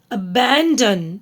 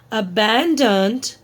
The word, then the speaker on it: abandoned: Okay, so don't pronounce the B sound. Climbed. Okay. M only climbed. The abandoned. This is not aband abandon. abandoned staircase.